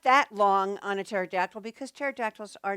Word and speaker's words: pterodactyl: you know this one it's the pterodactyl not Panera dactyl no no pterodactyl right and these are